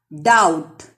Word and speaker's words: doubt: Doubt. B is silent.